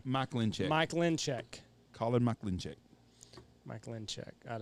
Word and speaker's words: Mikulencak: I don't have the pronunciation. Mikulencak.